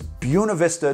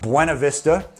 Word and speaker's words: Buena Vista: be in an area known as Buena Vista to the locals which is obviously pronounced wrong if you know anything about Spanish Buena Vista to those of us